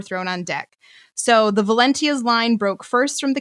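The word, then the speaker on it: Valentia: then the valencia valencia it's spelled with a t which makes you want to say valencia but valencia i would say valencia i guess i was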